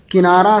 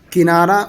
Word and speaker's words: کنارہ: کہ لفظ کنارہ ہے۔ کنارہ سب لوگ کہتے ہیں اور اکثر پڑھتے ہیں، کنارہ اردو کا صحیح تلفظ نہیں ہے، اردو کا صحیح تلفظ ہے کنارہ۔ کنارے پر یہ عمارت